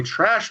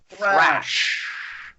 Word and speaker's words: thrash: sanctioned studio version by trash metal band Megadeth. Nice. Trash metal band Megadeth. What is a trash metal band? It's you mispronouncing the word thrash.